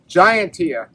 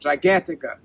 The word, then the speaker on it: Gigantica: The good thing is it's a season right after the Gigantia, or the Gigantica. That's the way to pronounce it, Gigantica.